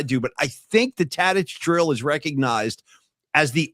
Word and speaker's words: Tadich: He was calling it like Tadik or something like that. Did you hear that? Yeah, it was weird. He didn't know how to pronounce Tadich.